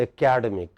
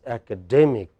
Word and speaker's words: academic: this word in India, we emphasize the second vowel from the left. We say academic. It is not academic. The way standard English does is, what is this? It is academic. This sound is emphasized.